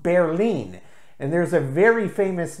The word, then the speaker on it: Berlin: that is the word the city of Berlin pronounced in German is pronounced bare lean and there's a very